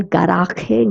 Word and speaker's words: garaje: The next word, el garaje, garage. Okay, now this word has a J, so I'm going to say j. And G is pronounced as ga.